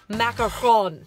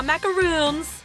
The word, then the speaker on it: macaron: Today I'm going to be tackling the almighty macaron. Now macaroons, that's not how you pronounce it. They're two different things.